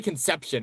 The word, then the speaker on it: Conception: Yeah, they're going to say Conception and I'm going to be like, "No, it's Conception."